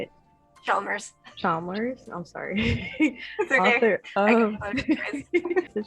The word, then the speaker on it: Chalmers: stranger than fiction today's special guest is lisa chambers is that how you say it chalmers chalmers i'm sorry um the chalmers author of